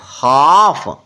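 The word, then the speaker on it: half: होता है बेड़िया clear H ए एल एफ हाफ ब से बच्चे इसको हाल्फ पढ़ते हैं हाल्फ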